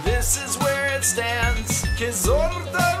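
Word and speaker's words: Kyzylorda: Kizorda region is how you pronounce me.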